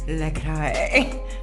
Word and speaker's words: LaCroix: How it's pronounced? LaCroix.